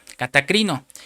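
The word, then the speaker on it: κατακρίνω: y usar una palabra griega, esa palabra condenará que se pronuncia catacrito, catacrino y es la número strong 2632 para los que están apuntando y quiere decir no solo condenar sino sentenciar.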